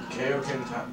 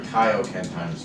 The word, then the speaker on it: Kaio-ken: No, because Koken I doubt it because Koken times 20 is basically used like Koko Ken times 2. Sorry. Kaio-Ken* 2. I've noticed I was pronouncing it wrong.